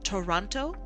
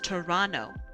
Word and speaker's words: Toronto: Uh, if you ever don't want to be singled out as a weirdo, you'll you'll want you'll want to pronounce it instead of Toronto, you'll want to pronounce it as Toronto. Trust me on this one. People won't treat you like an outsider if you do that.